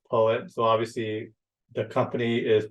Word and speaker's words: PoE: at the end so poet um some folks pronounce it Poe wi um you know which is fine but it's pronounced poet so obviously the company is pretty much based